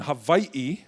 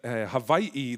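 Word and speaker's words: Hawaiʻi: But in Hawaii, they forgot, the missionaries forgot the okina, which is the glottal stop. The glottal stop, which is pronounced they forgot it. So this is why we say Hawaii rather than Hawaii. There is a glottal stop in the middle.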